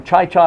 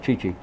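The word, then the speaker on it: Chi Chi: birthday today okay but he never could pronounce Chichi Rodriguez birthday a real name Chichi Rodriguez he called him Cha-Cha Rodriguez Yes mine too but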